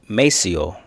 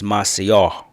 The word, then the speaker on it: Maceió: revisit her this trip she was also the first to correct me in pronunciation of the city Maceo because when I first came here I was saying Macio and she was like